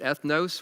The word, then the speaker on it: ethnos: the word we would we pronounce it ethnos where we get the word ethnic means the nations in